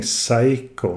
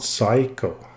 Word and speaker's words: Seiko: So I'm saying Seiko, not Psycho, just so that is clear. And the reason is quite simple. In Norwegian, the syllable Sei is actually used a lot.